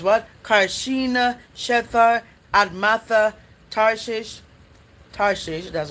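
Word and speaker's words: Tarshish: Carina, Shethar, Admatha, Tarses, Tarses, that's how you pronounce it.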